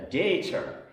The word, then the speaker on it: dater: And it's a halfway between an A and an E, a dater. You see, and he said that's how King Alfred would have pronounced the word, dater.